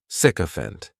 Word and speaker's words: sycophant: The spelling may throw people off to the pronunciation, but that sik is just pronounced sick. Sicopant.